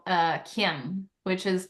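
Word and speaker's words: caim: my father with this symbol it's called Uh Kim which is pronounced c a i m but it's pronounced Kim it is a GIC Scottish symbol for Sanctuary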